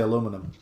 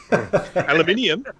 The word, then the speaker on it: aluminium: I just like the way you guys say aluminum. Aluminium. Yeah, see? They insert letters that aren't there. Yeah. Well, the letters are there with our spelling. It is spelled aluminium.